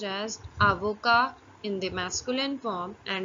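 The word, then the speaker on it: avocat: you simultaneously first profession is Advocate which is pronounced as Avoca in the masculine form and in the feminine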